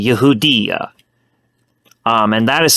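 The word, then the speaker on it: יהודה: but in Hebrew uh the proper term uh for Judea in Hebrew is actually Yehuda um and that is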